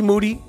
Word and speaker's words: Moody: It's me, Moody, whose last name rhymes with duty.